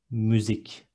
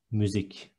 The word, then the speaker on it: müzik: Two short syllables with ü, it is müzik. One last time, müzik. Next one, obese is obez in Turkish with z in the end.